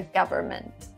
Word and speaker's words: government: increase taxes government government here we don't pronounce the n in the middle again my explanation would